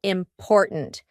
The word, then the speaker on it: important: to use this word important because in the middle we have that gladle t import and then at the end we have a stopped